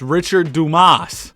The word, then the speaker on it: Richard Dumas: I learned how to pronounce this dude's name. It's Richard Dumas.